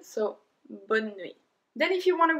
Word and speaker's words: bonne nuit: It's bonne nuit. Bonne nuit. We did not pronounce the E in the middle, so bonne nuit.